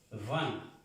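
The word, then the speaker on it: vingt: Van. Van. Van. Se pronuncian estas tres letras. Van. Como dijéramos va, pero van.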